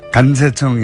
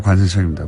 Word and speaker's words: 관세청: 간세청이 아니라 관세청입니다. 이런 문자 많이 왔습니다. 경상도 분들이 원래 복모음은 발음이 잘 안 됩니다.